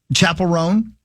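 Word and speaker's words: Chappell Roan: Chapel Rome.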